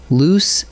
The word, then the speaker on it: loose: Next comes a pair that trips up even careful writers: loose and lose. Loose, spelled with a double O, rhymes with goose, and it means not tight.